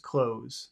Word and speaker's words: clothes: you know you don't you never pronounce the th it's just clothes there's no th sound okay they clothes just like that so